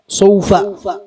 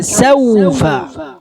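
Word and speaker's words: سَوْفَ: സൗഫ ശരിയാണോ? ഇല്ല, scene ഫത്ഹാണ്. Scene ഫത്ഹാണ്. സൗഫ. സ വായ തുറന്നു തന്നെ ഉച്ചരിക്കാം. ശേഷമുള്ള വാവിന്റെ ഉച്ചാരണം സീനിനെ ബാധിക്കാൻ പാടില്ല.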